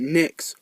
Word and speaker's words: Knicks: Well, nothing really, other than the fact that Knicks rhymes with kicks, and kangaroos can kick.